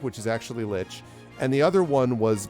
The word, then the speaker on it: lich: also you know but then i found out a couple years ago that that is in fact actually litch there were three words